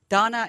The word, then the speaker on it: Dana: Donna, and it's spelled D A N A, but we pronounce it like the girl's name, D O N A.